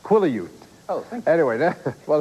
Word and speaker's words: Quileute: It's pronounced Seattle. No. No, it's not. It's Quileute.